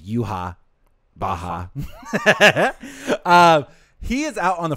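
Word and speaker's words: Yhwach: But, or sorry, his correct pronunciation is Yuha Baha.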